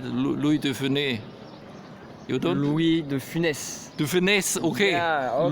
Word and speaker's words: Louis de Funès: Louis, because I don't pronounce this right, Louis Stephanie. You don't? Louis de Funès.